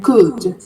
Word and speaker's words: could: Um, a thing to bear in mind with pronunciation again could only with so only with and forget the L. Could c u d that will be the pronunciation, right? Could.